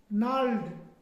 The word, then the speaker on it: gnarled: नाल्ड, नाल्ड, GNARLED, नाल्ड। क्या पढ़ते हैं? नाल्ड। लेकिन गनार्ड देखो मुझे भी आता है, गनार्ड नहीं पढ़ेंगे ना, तो इसका मतलब जी जो है यहाँ पे साइलेंट है।